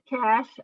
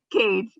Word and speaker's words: Koetsch: We're here with Bridget Cash. I always say her name incorrectly. It's Koetsch.